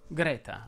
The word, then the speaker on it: Greta: si pronuncia aperto egle lo stesso discorso vale per greta ma anche qui in italiano propenderei per la è aperta greta davide mi spiace per